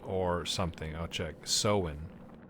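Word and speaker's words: Samhain: Sowin. So I think it was Sawin or something. I'll check. Sowin. So as in sow seeds, and then when.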